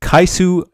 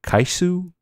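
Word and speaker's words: Kyscu: The card of the week is Kaisu Drake. Let me spell that for you. K-Y-S-C-U Drake. K-Y-S-C-U Drake. Kaisu Drake. I like that it almost sounds like Kyle.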